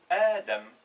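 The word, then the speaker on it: آدم: Si on lui ajoute un alif, ça fait A. Le D avec une fatha, Da. Et le M, Adam. Mais rappelez-vous, on a dit que ça, cette forme-là ne s'écrit pas. Elle est remplacée par le Mad.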